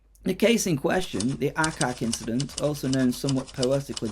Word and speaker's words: Aatxe: The Aatxe, pronounced Aatxe, is no simple phantom bull or rustic sort of ghost story.